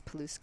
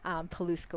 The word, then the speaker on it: Paluska: if you're taking notes paluska which is spelt the exact way it sounds paluska which trust and verify